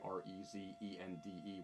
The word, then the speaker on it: Rezende: And Connor and Calvin Rezende, Rezende with a silent E.